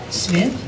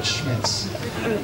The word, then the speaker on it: Schmitz: Schmitz? Smith? No, Schmitz. Schmidt? Schmite? You know what? Schmitz is fine.